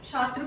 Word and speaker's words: छात्र: Next छात्र को क्या लिखेंगे, छात्र, क्ष डाल देंगे। क्या ये सही है, नहीं। क्या होता है, छात्र, छात्र, छात्र। छ की साउंड आ रही है, छात्र।